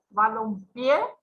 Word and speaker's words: balompié: Balompié, cargamos la voz en la última sílaba, termina en vocal, entonces una palabra aguda y va a llevar tilde, ¿sí?